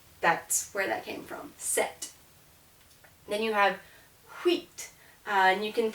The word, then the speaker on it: sept: either uh D or six geese but it's pronounced CE here set and you're going well wait a minute I've